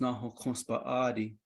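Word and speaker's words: Náhookǫs Bąʼáadii: And Cassiopeia, for us in Navajo, is pronounced Nahokonspa'adi, which is the female revolving one.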